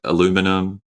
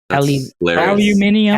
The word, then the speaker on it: aluminium: classic joke always land is there anything that Americans say that you think is funny oh man this hpes you do like aluminum aluminium aluminium aluminium you sayum did he just say